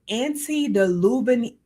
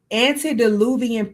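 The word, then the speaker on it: antediluvian: Now, mind you, this is the what is considered the anti-deluven I said it wrong. Anti-oluvian period meaning before the flood.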